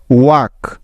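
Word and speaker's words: walk: এল এফ বিহা next কে এর আগে এল সাইলেন্টের কিছু উদাহরণ যেমন টক টি এ এল কে টক ওয়াক ডব্লিউ এ এল কে ওয়াক Chak C এইচ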